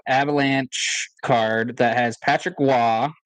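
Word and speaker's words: Roy: card that has Patrick Wah. It's pronounced Wah for all you people who need to know.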